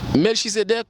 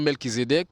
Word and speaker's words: Melchizédec: l'histoire peuple juif là Melchizédec ou bien Melkizedec alors si prononcé Melchizedec il bien prononcé s'il prononc Melkizedec tout il prononcé parce que euh série